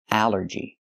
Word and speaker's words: allergy: The rule is a ll makes the sound all like ball and call, but here it makes the a sound. The short a like an apple and black. A allergy. It's three syllables. Allergy. The stress is on the first syllable.